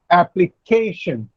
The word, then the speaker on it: application: Application. K comes before the last syllable.